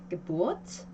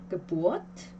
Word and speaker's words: Geburt: 이 이런 비분리 전철과 같은 말로 시작하는 단어들은 그 음절들은 강세를 가질 수가 없어요. 그래서 Geburt 요게 강세가 와요. 그러면 우리 원칙상 에야, 테라는 두 개의 자음이 오니까 우를 짧게 발음하지 않을까 싶겠지만요. 이것은 예외적으로 길게 발음을 해줘요. 그래서 Geburt라고 발음을 합니다.